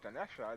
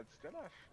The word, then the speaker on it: Dinesh: It's not Dinesha. It's Dinesh.